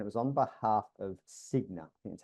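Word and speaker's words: Cigna: 2018 stat and it was on behalf of Signa I that's how you pronounce it and the stat was over half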